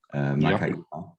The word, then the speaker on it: Makaira: So first of all, perfect pronunciation. We talked about that earlier. Makaira.